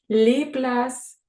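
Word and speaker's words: les places: впливає на читання слова На кінці слів не читається ПС міс це площа ліпляс місця площі машез містілець мишез мої стільці вправу по читанню Зробіть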